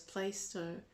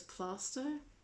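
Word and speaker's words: Plaistow: how you pronounce it i used to pronounce it for so long as playstore but it's not i think it's i think you're meant to pronounce it as plaster plaster grave his house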